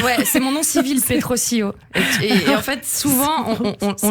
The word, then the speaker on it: Petrosilio: En fait, ouais, c'est mon nom civil, Petrosilio. Et en fait, souvent, on le prononce. Sio. Ouais, c'est Petrosilio, parce que c'est italien.